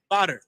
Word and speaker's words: Badar: Badar. That's how you say it.